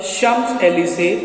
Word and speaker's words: Champs-Élysées: One Sunday, as she was taking a walk in the Champs-Élysées, that is the pronunciation, to rid herself of the cares of the week, she suddenly perceived a woman walking with a child.